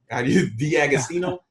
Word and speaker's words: D'Agostino: Dom I always say and make your last name wrong D'Agostino that was perfect yeah nice nice I mean